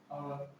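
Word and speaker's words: hour: Bowel से पहले एच लगा हो, लिख लो बोवेल से पहले एच हो तो सामान्यतः एच साइलेंट रहता है। एच ओ यू आर, आवर, इसे आवर बोलते हैं, आवर मतलब घंटे, ठीक है ना।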